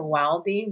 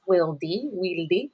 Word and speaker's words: Wildy: And then people just assumed that Wildy was because of wildflower, which technically it is, but it's pronounced Wildy in Spanish.